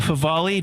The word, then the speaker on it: Favale: Do I pronounce that right?